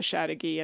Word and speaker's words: Chateauguay: The first half of the word is the word chateau, which of course is French for castle. Oh. So chateau is, if you know how to spell that, to me that was easier. So CHATEAU, chateau. Oh. Chateau. And then the Guy part is GUAY, which should be like Paraguay.